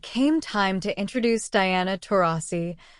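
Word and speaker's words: Taurasi: time to introduce Diana tasi whoopy made a noticeable mistake mispronouncing her last name as tesis the moment was awkward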